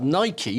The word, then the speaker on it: Nike: that combination of Air rikey Nike Nike it's pronounced Nike it's a Greek word for victory uh and